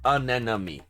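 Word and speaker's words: anemone: enemy an enemy and please note that it's pronounced anemy aemy yes anemon those colorful sea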